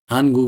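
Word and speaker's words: 하나: नेपाली उच्चारण यहाँ छै एकलाई हाना या हान भन्ने हान नेपाली अर्थ एक यस्तै दुइला भयो थुल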